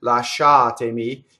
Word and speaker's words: lasciatemi: about just the vowels so if we just take the vowels in last shot Amy it's aa aa a E right so here's the other